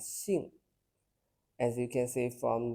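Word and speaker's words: 性: But in Chinese, surname and nature sound the same, both pronounced as xing, as you can see from the response here.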